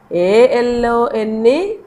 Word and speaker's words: alone: E is written, but we don't pronounce it, we don't read it.